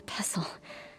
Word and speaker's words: pestle: enough to hold a pestle. I started to get blisters, which popped and formed scabs. Those tore, and then... It's a silent T in pestle?